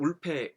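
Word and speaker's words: Wolpe: 알려져 있죠 어 이제 이름이 이제 조셉 울페 있데 저는 이제 이렇게 발음을 하는데 뭐 조셉 월프라고 워프라는 발음을 하는게 맞는 것 같기도 해요 뭐 사실 이제 영어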